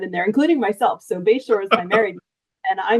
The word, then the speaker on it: Bashore: to put that in there including myself so bayor is my married and I mispronounced my own name when I first met